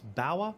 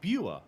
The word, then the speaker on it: Buer: wait no not really maybe Americans might pronounce this Bower but when I read it it sounds like buer so this all comes